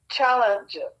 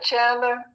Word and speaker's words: Chandler: Spell it? LA hyphen DARION. DARION. LaDarian. And his last name? Challenger. CHALLEN. CHANDLER.